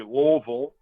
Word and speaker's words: Louisville: So I'm originally from Louisville, Kentucky, or if I were to pronounce it correctly, it would be Louisville, Kentucky.